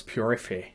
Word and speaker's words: Purifier: Yeah, although it's French, so it's purify. Okay. But it's spelled like purifier, right? Yeah, but it's pronounced purify.